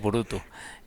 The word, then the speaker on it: Burutü: O cómo lo pronuncia efectivamente lo has dicho muy bien es burutu eh tiene eh la dificultad de pronunciación eh que tiene una diéresis al final dos puntos sobre Lau y de hecho alguna